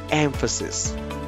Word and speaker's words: emphasis: pronounce the word as emphasis instead of saying the emphasis is on the first syllable we pronounce the word